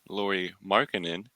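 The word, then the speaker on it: Lauri Markkanen: first one is going to be Lori markkanen Lori markkanen um I I finally fixed fixed my pronunciation of them so shout out you guys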